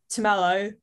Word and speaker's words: Tumelo: Well, I pronounce it Tumelo, but I guess it's up to interpretation, maybe. Well, I'm going to go with Tumelo as well and try and remember to pronounce it that way.